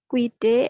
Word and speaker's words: guidé: Ilma beaucoup guidé et appris. Stop. Ya, stop. Kalau ada dua bunyi huruf vokal, UI, UA, U-nya dilafalkan tidak? Tadi saya sudah menjelaskan. Tidak, madam. Jadi dibaca. Guidé.